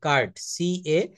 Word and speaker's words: cart: অর্ডের মধ্যে যদি আর থাকে এবং এটা পিওর কনসোনেন্ট, আরটা হতে হবে, আর বা কোনো কনসোনেন্ট থাকে, তাহলে কিন্তু এখানে উচ্চারণটা আর এর উচ্চারণ করে না। যেমন CART, কার্ট, CART, কার্ট অর্থ হচ্ছে গরুর গাড়ি বা ঘোড়ার গাড়ি। CART, এটা কিন্তু ওরা আরটা বলে না, ওরা বলে খাট।